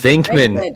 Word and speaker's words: Venkman: Venkman.